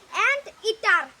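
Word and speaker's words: anteater: অ্যান্টিটার, অ্যান্টিএটার লেখা আছে, আসলে সঠিক উচ্চারণ হলো অ্যান্টিটার।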